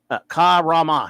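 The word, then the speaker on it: Karemma: Says pronounce Ka-Rama.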